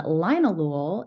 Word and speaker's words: linalool: And linalool is the chemical constituent where a lot of the brain effects with calming, all of those things are linked to linalool.